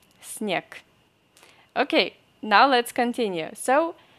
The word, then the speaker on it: снег: If you see G, this letter, this consonant G, in the end of any Russian word, you have to pronounce this G as K. Снег. Снег.